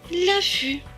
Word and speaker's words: affût: f ait eu fut et le thé à la fin ne se prononce pas puisqu'il est écrit en bleu donc selon se prononce la fût l'affût on va refaire cette